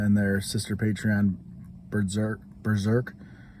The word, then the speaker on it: B3DRK: their sister patreon berserk berserk it's spelled b3drk but it's easier to say berserk than spell than say b3 zerk so uh yeah wicked